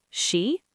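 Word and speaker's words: し: For has two pronunciations, she or yon. In most situations, you'll use yon because she sounds like the word for death in Japanese, so people avoid it, but you'll hear both. For now, let's use yon.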